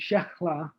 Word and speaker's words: Shehla: right but you," because it's spelled Shehla. And I asked her how it's said, and she told me, and then I called her Shechla. And she said, "Nobody says it right but you."